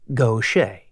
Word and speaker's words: Gautier: that shared his name, and both were pronounced Gocha.